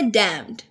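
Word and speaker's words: damned: Next है डैम्ड, N silent है।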